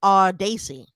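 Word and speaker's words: Audacy: spell it first a-u-d-a-c-y so the end of it is ac like lacey and the beginning is odd like audio so i'm going to go with our daisy or it could be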